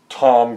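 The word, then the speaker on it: Thom: British kind of character, so I've got a character named Tom Grimes. Okay? But it's spelled T-H-O-M, like Tom Latimer. So you'd have to catch that, inference. Otherwise, he's just some guy named Tom Grimes.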